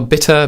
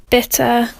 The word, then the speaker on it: bitter: So the t and the d are maintained in British speech in a way that they aren't in American speech.